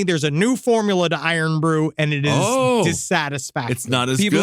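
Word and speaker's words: Irn-Bru: But now I actually it's pronounced Iron Brew.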